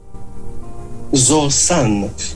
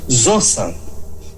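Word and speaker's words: ζῶσαν: não é só novo caminho é vivo zosan zosan zosan é a pronúncia correta do verbo Z Ah vivo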